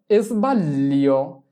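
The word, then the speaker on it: sbaglio: ভুলকে বলা হয় ইজবাললিও। ইজবাললিও। তাহলে কি বসাতে হবে? ইজবাললিও। দেখো দুইবার ল উচ্চারণ করছি।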